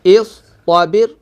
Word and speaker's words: اصطبر: دیکھیں جی اس کے ہجے کہتے ہیں جی. حمزہ صاد زیر اس. طا زبر طا. اس طا. با را زیر بر. با را زیر بر اصطبر.